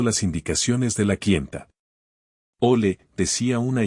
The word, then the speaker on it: au lait: La prononciación de «au lait» peut être un peu délicate. Essayez de dire «ole» en liant les deux mots.